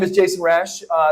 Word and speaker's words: Rash: my name is Jason rash uh it's spelled r-a-s-h like it sounds um I I got